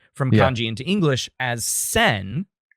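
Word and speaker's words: 千: Takes away one of her kanji, which leaves just only one character, one character which is pronounced transliterated from kanji into English as Sen.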